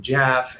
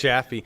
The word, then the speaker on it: Jaffe: We've already reached out to Stephen Jaff, and lots of good things are happening. It's Jaffe. I know this because I pronounced it wrong until I had him on air.